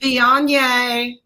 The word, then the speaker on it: Viognier: And we tried the Viognier.